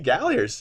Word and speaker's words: Galliers: Please welcome Brady Galliers, everyone. Is it Galliers or Galliers? Galliers.